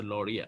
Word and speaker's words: Lowry: correction okay so uh so that's pronounced lauria let me you know